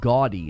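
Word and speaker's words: Gaudiy: They're investing 10 billion yen in a partnership with Bandai into a company called Gaudy. It's spelled a little funny, G-A-U-D-I-Y, Gaudy.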